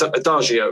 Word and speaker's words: Adagio: like um in the new album is it adagio is how you pronounce it yes yes yeah that song blew